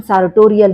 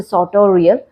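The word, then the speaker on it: sartorial: अब इसका pronunciation सार्टोरियल नहीं, इट्स अ साटोरियल।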